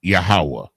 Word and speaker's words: Yahweh: In order to say the Most High's name properly, you have to pronounce it in the Hebrew in which it was revealed. And his name in the Hebrew is Yahweh.